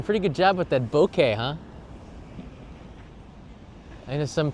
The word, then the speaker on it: bokeh: good job with that bokeh huh I know some people people say bokeh in Japanese it's pronounced Boke and it's a Japanese word so that would be